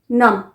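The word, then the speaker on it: numb: या सुन पर जाना नम एन य बी नम बी साइलेंट है नम हिज फीट फेल्ट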